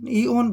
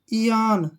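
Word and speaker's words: eon: जैसे next word है ई ओ एन इसको हम क्या पढ़ेंगे इऑन ओन बिल्कुल गलत है इसका मतलब बनेगा ई से बना ई ठीक है ना और ओ को यहां पढ़ेंगे आ आ औरन से ना इयान क्या बन गया ये इयान इयान होता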